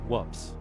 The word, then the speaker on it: WPPSS: The nickname WPPSS became a punchline mockingly pronounced whoops.